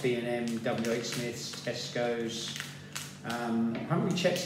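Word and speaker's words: Smyths: I picked them up from a Smith's Toys, which if you're not in the UK, it's like Toys R Us, but owned by a different company, and it's spelled S-M-Y-T-H-S, Smiths.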